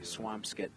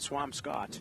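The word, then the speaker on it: Swampscott: Swampskit, not Swam Scott.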